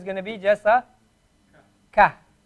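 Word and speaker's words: ك: Now notice the difference between Qaf and Kaf. Qa. Ka. Qa. Ka. The difference between Qaf and Kaf is that the Qaf, in order to pronounce the Qaf, you go a little bit further down your throat to get the Qa sound.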